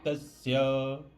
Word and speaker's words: तस्य: भवे तस त्रिलोके पराजित यहां पे भवे तस स ऐसे बोलना डबल त का उच्चारण करना है ना देवी कला भवे तस्य उसके बाद में त्रोकेश्व